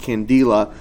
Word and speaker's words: candela: the capital k likewise i could say the candela or sometimes pronounced candela you would need to